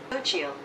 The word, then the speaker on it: Xochitl: So she says Xochitl. Xochitl. Oh, so it is Xochitl Gonzalez.